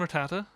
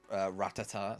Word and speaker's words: Rattata: We had Pidgey and Rattata. Rattata, which when I was young, I used to say it Ratata.